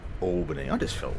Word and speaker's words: Albany: of you viewing is probably haven't heard of albani albani Western Australia and there'd be a lot of Australians who have not heard of albani Western Australia either because that's not how you pronounce it it's Albany Albany I just felt like saying albani it's it's